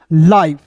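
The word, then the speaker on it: life: आई हो जाएगा एल आई एफ ई लाइफ।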